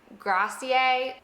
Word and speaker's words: grazie: Americans specifically will say grazie, or they'll say something like grazie. No, we have to pronounce the e at the end.